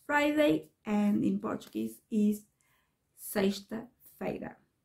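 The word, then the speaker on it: sexta-feira: the week is friday and in portuguese is seiste veda say it after me and that's it i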